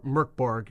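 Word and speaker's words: Mörk Borg: you haven't heard of Mor Borg before or MK Borg depending on how accurately you want to pronounce the Swedish title it means dark Fort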